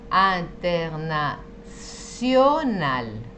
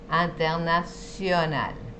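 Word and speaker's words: international: Por ejemplo, en la palabra internacional, nosotros pronunciaríamos internacional. No, si está la T con la I va a ser sí. Internacional. Después está la C con la cedilla que vimos en la primera clase.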